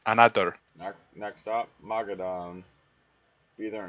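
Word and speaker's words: Anadyr: Anader is how you say it. Anader.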